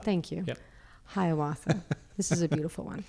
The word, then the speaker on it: Hiawatha: okay and then lastly can you help me pronounce this word i'm not going to say it right hiawatha thank you hiawatha this is a beautiful one okay it's true